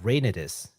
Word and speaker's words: Reynatis: their newest title uh rainis uh and and I think that's how it's pronounced u i just based it off of the Japanese pronunciation oh could you say